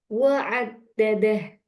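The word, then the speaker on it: وعدّده: Ditekan sebentar, ditekan satu harokat atau satu ketukan. Wa'addadah.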